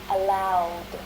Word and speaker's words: allowed: Right, so if the infinitive verb ends in one of these sounds, then the ed is pronounced as d. Allow, ending in the voiced consonant sound, becomes allowed.